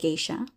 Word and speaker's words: geisha: Remember, G plus E gives us G, with the exception of foreign words like geisha.